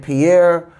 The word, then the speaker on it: Pierre: we want better and Pierre ol um and yes I am pronouncing his name the way he says that um it should be pronounced without saying it with the French accent so Pierre uh actually is on